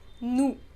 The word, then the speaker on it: nous: Now in the plural category we have nous, meaning we. We do not pronounce the last consonant.